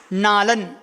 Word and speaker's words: नालं: कहा पढ़ो कहां खलु नालन ला के ऊपर बिंदी है उसका उच्चारण ना से करेंगे।